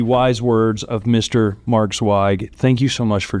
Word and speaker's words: Zweig: Mark Swag. Thank you so much for joining me today sir. Sai thank you for pronouncing my name properly.